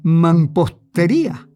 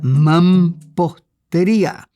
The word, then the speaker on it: mampostería: amiga Frances Saad, que corrigió mi boricua pronunciación de mampostería a la ortográfica mampostería, según el Tesoro de la Lengua Castellana o Española de Sebastián de Covarrubias de Orozco. Mampostería, con la M antes de la P.